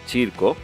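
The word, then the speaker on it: circo: তৃতীয় বর্ণ হচ্ছে চি, চিয়ের উদাহরণ হচ্ছে চিরকো। চিয়ের উচ্চারণটা একটু খেয়াল করতে হবে, কারণ চিয়ের উচ্চারণটা চ এবং ছ এই দুটি বর্ণের মাঝামাঝি একটি উচ্চারণ।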